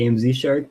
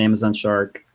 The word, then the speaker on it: AMZ Shark: I want to say personally, I go with the how it's spelled, so I always say AMZ Shark, but you can call it Amazon Shark.